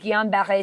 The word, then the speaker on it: Guillain-Barré: It's a neurological disorder called Guillain-Barré syndrome. Tell us more. And I like the way you pronounce it because it is a French name syndrome.